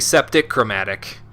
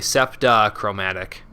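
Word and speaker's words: septachromatic: want people to be septic chromatic let's make sure I pronounce it properly septa chromatic cuz septic chromatic is not yeah that's that that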